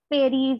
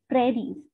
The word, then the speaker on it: prairies: It's not prairies or prairies, it's not like that, it's pronounced as prairies.